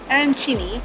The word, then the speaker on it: arancini: It's arancini, which is like a rice ball, and it's stuffed with prosciutto and mozzarella, and then, of course, a cannoli.